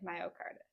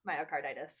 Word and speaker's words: myocarditis: And nicotine like heals the scarring of the heart caused by myocard. I'm pronouncing it wrong. Myocarditis.